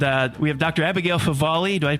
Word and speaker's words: Favale: Abigail Favali. Do I pronounce that right?